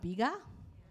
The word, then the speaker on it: Bega: with bega group have you all heard of Biga yeah I also pronounce it wrongly sometimes Biga so the actual pronunciation is called biga biga yeah but if you pronounce it bega then you'll be very malayaka so the actual